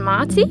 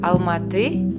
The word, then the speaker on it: Almaty: maybe a little bit lost on Marty or better pronounce Almaty is the largest city